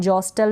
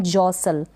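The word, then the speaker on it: jostle: फिर ये है जॉसन, जॉस्टल नहीं पढ़ेंगे, जॉस्टल नहीं, जॉसल, जॉसल, एल ई, ये ई का उच्चारण नहीं होगा, लास्ट में है, इसको हम नहीं पढ़ेंगे।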